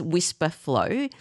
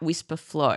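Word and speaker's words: Wispr Flow: a few times is Whisper Flow. So we'll put a link to that in the show notes. It's spelled W I S P R and then flow.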